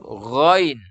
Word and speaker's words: ghain: Cara membacanya juga dengan diangkat pangkal lidah sehingga terdengar suara itu tebal. Iya. Gho, ri, gu, bau. Jadi kita membaca Al-Fatihah ghairil maghdubi. Iya, jadi tidak dibaca dengan diturunkan pangkal lidah.